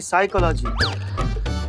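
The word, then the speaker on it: psychology: पिसाई का लागी साइकोलॉजी नहीं साइकोलॉजी प साइलेंट होता है तुम हो जाओ साइलेंट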